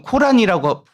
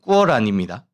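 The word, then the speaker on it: Qur'an: 우리 보통 코란이라고 부르는데 정확한 발음 꾸어란입니다.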